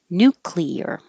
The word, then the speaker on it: nuclear: to a d um i wanted to look up nuclear to make sure i was pronouncing it right after um there's so much news about george bush pronouncing it wrong and like which one is the right way so i looked it up and it is nuclear damaged it's a weird